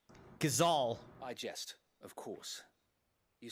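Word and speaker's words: Gysahl: is all green seeds I still pronounce it wrong not Geisel gazal I just of course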